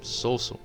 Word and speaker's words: Sousou: We have this word right here that is pronounced Sousou.